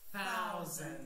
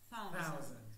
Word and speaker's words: thousand: Thousand. E que vocês lembram aqui? A língua ela vai entre os dentes.